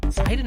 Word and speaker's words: Sidon: Let's How do talk you- about Sidon, guys. I always say it wrong. Is it Sidon or Sinden? Sidon. The Sidon light gun. Today we've got Andy with us.